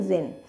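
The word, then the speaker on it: djinn: यहाँ पर उसको जिन की स्पेलिंग DZINN दी हुई है, लेकिन इसको हमें क्या प्रोनाउंस करना है, जिन, and variously spelled as जिनी।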